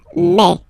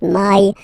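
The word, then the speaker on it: mai: open a okay and then you pronounce it me me okay so don't pronounce e don't try to pronounce it no it's me me so it's not my it's me okay and then here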